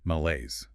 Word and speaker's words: malaise: Malaise. Two syllables. Stress on the second. Sounds French. It is French in origin.